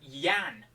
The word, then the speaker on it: Jan: And his name was Jan, right, with J-A-N. And I used to always call him Jan for probably 3 years, right? And then it came out that his name is actually pronounced Jan, like Y-A-N.